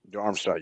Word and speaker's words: Darmstadt: Darmstadt. Is that how you say it? Darmstadt, yeah.